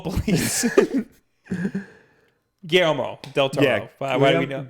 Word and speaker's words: Guillermo del Toro: Guillermo del Toro. Yeah, Why do we know? Guillermo del Toro. Yes, that's how you pronounce his name.